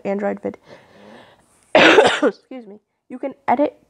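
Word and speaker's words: Androvid: It is called Android Vid. And it's spelled A-N-D-R-O-V-I-D. And it's all one word, and it's called Android Vid.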